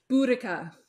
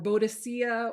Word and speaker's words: Boudicca: i think she might actually be my favorite buddhica or bodacia or however you want to pronounce it i will never make fun of